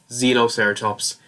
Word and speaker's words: Xenoceratops: The reason why I'm saying Xenoceratops is because the beginning is spelled the same way as xenomorph. So, xenomorph, Xenoceratops. Put them together, I'm pretty sure this is pronounced Xenoceratops, even though I'm probably getting that wrong, knowing me.